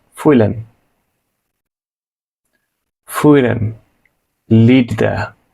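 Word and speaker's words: fühlen: করা ফুইলেন ফিল করা খেয়াল করুন এখানে হয় এর উচ্চারণটা হবে খুবই সামান্য ফুইলেন ফুইরেন লিড দেয়া বা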